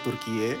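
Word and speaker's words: Türkiye: 2022 Turki secara internasional ganti nama jadi turkiie ya dibacanya turkiie Nah jadi trip ini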